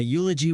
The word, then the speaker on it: eulogy: the answer is a eulogy was given at the gravide eulogy starts with a consonant sound like a y so we use a